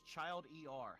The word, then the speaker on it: childer: No, it's child er. How do you pronounce that?